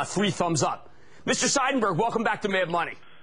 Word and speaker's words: Seidenberg: The man behind the stock is Verizon's chairman and CEO, Ivan Seidenberg. I pronounced his name right because his mother corrected me once.